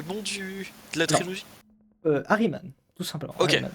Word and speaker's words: Ahriman: Harryman, tout simplement. Ok, Harryman. Ahriman. Voilà. Alors, comment ça s'écrit s'il te plaît?